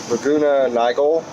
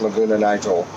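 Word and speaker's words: Laguna Niguel: taken up to the laguna nigal nigel it looks like laguna nigel but it they're i'm pronouncing it wrong so anyways probably laguna nigal anyways i was told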